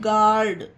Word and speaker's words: guard: अब इसे सोचो गोल्ड पढ़ें तो ये गलत होगा। अगर गार्ड आपने इसकी स्पेलिंग गार्ड की GARD लिखा, आपने सोचा कि गार्ड है तो GARD लिख दें गार्ड, तो ये भी गलत होगा। इसकी स्पेलिंग ऐसे ही लिखी जाएगी GUARD गार्ड। COURT कोल्ट, इसमें भी यू